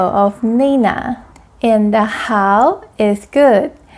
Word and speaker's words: 好: And the how is good. The pronunciation of how is just like the first word of English how are you? How. Let's make it to third tones.